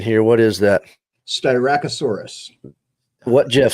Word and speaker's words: Styracosaurus: Now, Jeff, you got to help me with the pronunciation here. What is that? Styracosaurus.